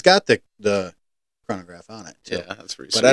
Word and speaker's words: chronograph: into ones with um coronagraph is that how you pronounce it chronograph chronograph yep and you get into